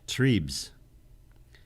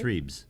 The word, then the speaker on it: Trebes: Trebes, like trees with a B. Okay. Trebes.